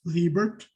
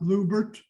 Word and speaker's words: Libert: I want to make sure that everybody understands that David's last name is pronounced Libert, not Lubert, Libert, or Libart.